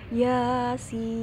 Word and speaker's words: Yasin: dibacanya dua harokat jadi cara membaca fawatihussuwar Yasin yang betul adalah Yasin iyanya Cukup dua harokat saja namun masih banyak